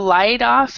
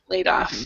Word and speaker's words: laid off: it this last time instead of light off it's a laid Aid light off laid off yeah possibly other people